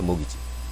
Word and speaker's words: mortgage: 나무를 사고파는 사람에게 할 수 있을지 그리고 페이오프트 모기지 무기질 나는 무기지론 해서 예전에 아주 언급됐던 표현이죠 키가 발음이 안 되고요 담보대출 대출을 뜻하는 단어 중에